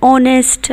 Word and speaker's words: honest: Here, the H is silent. That is why the letter that follows is used as the first letter. So O, an hour. In the same way with honest man, you're saying honest.